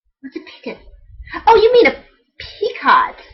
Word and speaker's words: picot: You have to triple crochet, skip stitches, crochet a picot, not a peacock, but a picot, P-I-C-O-T.